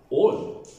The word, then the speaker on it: all: ഏക്ക് ശേഷം എൽ എന്ന അക്ഷരം വന്നാൽ ഏയുടെ ഉച്ചാരണം ഒ എന്നാക്കുക. ഓ. ആൾ. നമുക്കറിയാം ആൾ. ഓൾ. ആൾവേസ്. ഓൾവേസ്. ആൾദോ. Although. കാൾ. കോൾ. സ്മാൾ. സ്മോൾ. ഫാൾ. ഫോൾ.